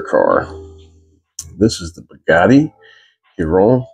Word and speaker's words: Chiron: be uh grammatically correct everybody pronounce it a little different but I think uh Bugatti which is a French made car manufacturer pronounces this Hon pure sport or Chiron pure sport however you want to say it don't call me